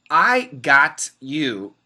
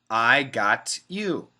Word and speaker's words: I got you: yes zanab that's right I got you if we have a t next to a y we can make it into a CH sound so perfect pronunciation I got you a little bit faster